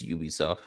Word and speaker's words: Ubisoft: franchises Assassin's Creed yeah a little do you pronounce it Ubisoft or Ubisoft it's Ubisoft they're literally gonna be bought out by 10